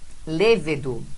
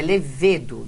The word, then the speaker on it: levedo: Veja aí que a gente tem agora lévedo, não, é levedo, né?